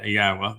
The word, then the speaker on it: Yahweh: And the 4 letters in Yahweh's name are all vowels. Each one of them has their own sound. So the Y is like the Y in yes, yeah. And the first syllable there would be ah, and